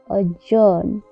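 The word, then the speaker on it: adjourn: अजॉर्न, अजॉर्न में भी D silent है क्योंकि यहाँ पे डी के बाद जे आया हुआ है।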